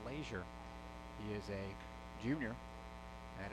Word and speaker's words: Leisure: The batter now is Bryce Leisure, spelled like pleasure without the P, but pronounced Leisure.